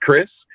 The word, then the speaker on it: Krizz: if you just put k-r-i-z-z which is pronounced chris if you put that